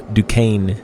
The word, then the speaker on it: Duquesne: But this is the Duquesne Incline, which, by the way, D-U-Q-U-E-S-N-E is Duquesne, as I learned.